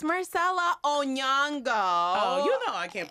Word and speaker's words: Onyango: That is not how you say it. It's Onyango, which is one thing that I also really miss.